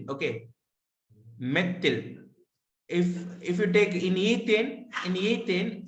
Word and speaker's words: methyl: Not methyl. It should be pronounced as methyl. Okay, methyl.